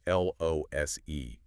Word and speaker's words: lose: With one O, it's a hard Z sound.